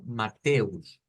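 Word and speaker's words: Matthäus: se dice en inglés y en alemán se puede pronunciar de dos maneras las que les he estado enseñando más que todo es la forma que es como mateus es decir que eso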